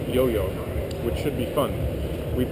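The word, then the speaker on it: IOIO: his chosen Hardware board which is spelled Io Io but it's pronounced yo-yo which should be fun we've discuss the Arduino concept uh but we'll stick with the yo-yo for version one couple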